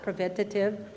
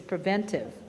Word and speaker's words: preventive: for your preventive exam, believe it or not, it's not preventative, it's preventive, if you notice how it's spelled. But most people call it preventative. It is preventive.